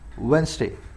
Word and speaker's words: Wednesday: Monday, ट्यूसडे, वेडनेसडे ऐसे ही बोला जाता है ना, इसको वेडनेसडे नहीं बोला जाता। कैसे बोले भाई इसको, इस डी को साइलेंट कर दो। अब बोलो इसको क्या बोलोगे, वेंसडे।